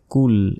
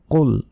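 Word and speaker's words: قُلْ: ভুল বলি বলি যে কুল এখানে বলি কুল আসলে কুল নয় এখানে বলতে হবে কুল কুল কখন হবে যখন কফের জায়গায় কাফ থাকবে তখন এখানে আছে কফ তাহলে মোটা করে উচ্চারণ হবে শক্তভাবে কফ লাম পেশ উল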